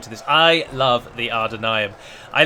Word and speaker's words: Ar-Adûnâim: And it is pronounced R with a rolled R and then Ar-Adûnâim. So it sounds like it's AR-AR, but it's not. You just pronounce the A as an R sound. So as if there is an R behind it, but then you soften it a bit.